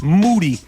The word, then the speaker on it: Moody: walking out with G Moody last name rhymes with Duty with his face bled